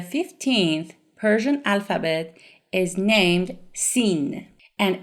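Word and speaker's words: سین: The 15th Persian alphabet is named Sin, and it is pronounced like S, S, like the beginning sound of the letter singer in English.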